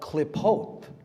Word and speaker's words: Qlippoth: It's called klipot, klipotic Kabbalah. Look up the klipot. It's spelled Qlippoth.